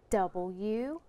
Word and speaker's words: would: W-U-D. W-O-U-L-D. Would. Great job. Hey, the words should, could, and would rhyme. They also have the same tricky spelling.